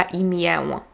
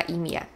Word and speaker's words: imię: Nie mówię mam na imię, mówię mam na imię.